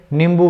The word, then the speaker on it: नींबू: नींबू में ये चंद्र बिंदु अपना गलत है, नींबू उच्चारण नींबू होता है, वो शुद्ध उच्चारण होता है।